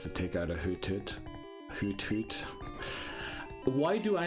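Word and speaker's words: Hoothoot: take out a ho hoot hoot why do I not know how to pronounce anything right now it's supposed to sound like an ARL isn't it so like hoot hoot say it hoot hoot no why do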